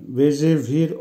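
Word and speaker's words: бежевый: রোজাভি, রোজাভির অর্থ হবে গোলাপি, উচ্চারণ হবে রোজাভি। আবারও বলছি রোজাভি। বেজেভি, বেজেভির অর্থ হবে হলুদ এবং বাদামি রঙের মিশ্রণ, অর্থাৎ হলুদ এবং বাদামি রঙের মাঝামাঝি, উচ্চারণ হবে বেজেভি।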